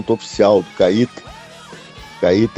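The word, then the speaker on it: Kait: Os convites foram limitados, até porque a Nissan neste evento do lançamento oficial do Cait, Cait é K A I T, né?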